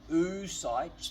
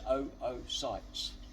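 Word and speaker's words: oocytes: And some biologists call them oo sightes, but my Latin master when I was at high school said, "You pronounce every letter and it's o sites."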